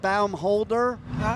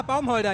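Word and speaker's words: Baumholder: And my daughter lived in Bumold. I can't pronounce it. No. B English we say Bholder. But you guys Ah, bomb holder.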